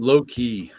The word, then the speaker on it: Loki: you pronounce something correctly is it low-key or loci loki i've always heard it low-key it's slow yeah because it's uh it's come from comes from old norse and the closest you have nowadays is is danish or norwegian and that's how they pronounce it yeah lokai is two